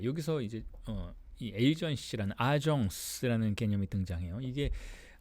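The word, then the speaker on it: agence: 에이전시 프랑스로는 더 그 어 대리한다는 속성 그 의미가 더 강조되고 있는데 그걸 이제 프랑스 식으로 발음을 하면 아정스라고 해요.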